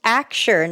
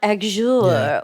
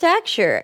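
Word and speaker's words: Axure: fan of aure axu r e which is pronounced aure not aure or a um it's just aure and um that's been my tool since February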